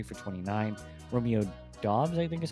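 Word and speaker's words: Romeo Doubs: Romeo Dobs, I think is how you say his name, 2 for 25.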